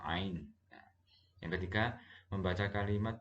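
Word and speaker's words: عين: Kalau alif, alif biasa A. Kalau ain kita pakai ada di tenggorokan, ain.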